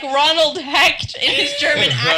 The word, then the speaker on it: Hecht: i'm sick of going my name is hecht people are like what hesh what h-e-c-h-t that's fine sure